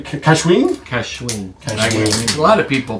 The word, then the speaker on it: Cascahuin: Cascahuin. Cascahuin. A lot of people pronounce it different ways.